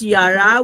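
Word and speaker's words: ירה: The Hebrew word for teach interestingly is yara. So the it's pronounced as yara which means to direct the flow of water also like rainfalling.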